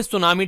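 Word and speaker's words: tsunami: ये जो डे है यहाँ पर ये बात कर रहा है वर्ल्ड सुनामी डे के बारे में। टी जो है यहाँ पर ये साइलेंट रहता है, SUNAMI, तो इसे वैसे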